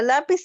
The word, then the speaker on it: lápiz: Lápiz, divido la palabra lápiz, entonces sería lápiz. En este caso, pis sería la última sílaba y la penúltima sería la.